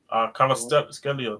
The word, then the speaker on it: Kvaratskhelia: And when you look at this team, based on profiles and everything, when I look at the team, Kvaratskhelia on that. That's how to pronounce his name.